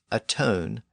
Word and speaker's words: atone: that produced the words atone and atonement and notice how those words have retained the original pronunciation of the number one as own so if words